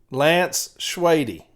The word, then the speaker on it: Lance Schwady: Lance Schwady is how you pronounce the name.